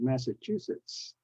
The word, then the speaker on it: Massachusetts: of Illinois but uh look at the state of Massachusetts it has the S at the in okay Nazi it's not